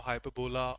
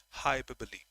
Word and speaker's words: hyperbole: Next, hyperbole. That's the pronunciation. Hyperbole. It's not hyperbol or hyperbola or anything such.